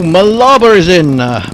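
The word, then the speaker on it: Mlaba: fight mate bye-bye o malaba is in in uh malaba how do how do I pronounce that malaba or malaba Mala I think Mala yeah that's good Mala has picked up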